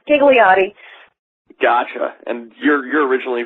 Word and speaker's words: Ghigliotti: throws everybody off and basically that H is very silent okay it's G it's giggly ATI gotcha and you're you're